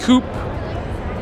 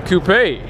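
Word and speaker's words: Coupé: BMW, I would say maybe the BMW M6 Coupe or Coupe. You got an accent on the E there. So carbon fiber on the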